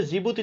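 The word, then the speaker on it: Djibouti: যদিও জিবুতি লিখতে প্রথমে ডি লাগে, আমরা উচ্চারণ সুবিধার্থে আগে মানে জে নিয়ে আসছি আর কি।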